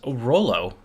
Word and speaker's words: Rolo: so crunch time it's crunch time um you pronounce this one as Rolo yeah yeah uh R style chocolates brand of